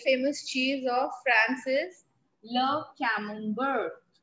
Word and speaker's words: camembert: cheese of francis love camembert c-a-m-e-m can mum bird now this tea is silent two important cheese